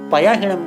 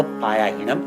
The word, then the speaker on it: पयाहीणम: तो आयाहीणम के समानता को लेकर के हम लोग पयाहीणम को पायाहीणम नहीं बना सकते, वो गलत उच्चारण हो जाता है। तो वहां पर पयाहीणम ऐसा उच्चारण करना है, शुद्ध उच्चारण है।